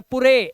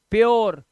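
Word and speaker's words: pure: कुरे मत पढ़ लेना कुरे इसे सुरे या पुरे ऐसा नहीं है प्योर क्यर श्यर रूल रूल ध्यान रखना बेटा रूल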